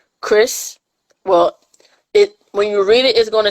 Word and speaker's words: Chris: So to play off the cover that I've shown, the two main characters, it's Chris. Well, when you read it, it's going to say Cries, but you pronounce it Chris.